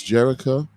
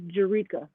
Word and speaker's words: Jerrica: so without further ado let's bring in miss jericho wait right here on djc radio global welcome